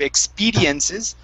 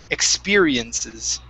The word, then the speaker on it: experiences: Force the tongue down on that R instead of expediences, experiences. Experiences. Okay, almost.